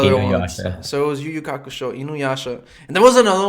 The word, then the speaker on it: Yu Yu Hakusho: Like I remember Juju Hakusho. Oh, Yu Yu Hakusho. I'm pronouncing it right.